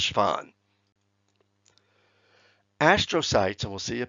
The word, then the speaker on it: Schwann: German or Austrian, but named after a researcher whose name would be pronounced Schwann.